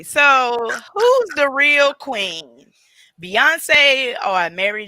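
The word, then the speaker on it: Beyoncé: If her name is Beyonce, why would y'all pronounce it Bayhive? Because they call her Bay. But her name is pronounced Beyonce, like A-B-E-E.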